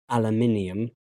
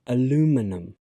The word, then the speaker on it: aluminium: British English aluminium. But in American English, it's pronounced aluminum. There are many differences taking place here. Firstly, the stress has changed places. In British English, it's on the third syllable.